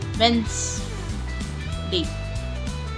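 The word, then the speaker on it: Wednesday: वेडनेसडे ये वेडनेसडे भी बोलते हैं कई लोग लेकिन ये वेडनेसडे होता है। वेस डे अब ये सैंडविच नहीं होता।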